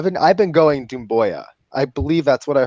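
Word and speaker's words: Doumbouya: Seku, Dembuya. So Dembuya. Booyah like Stuart Scott.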